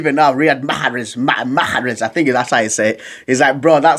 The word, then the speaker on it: Riyad Mahrez: He's like, bro, you're saying it wrong. It's Riyad Mahrez. I can't say it correctly, but now Riyad Mahrez.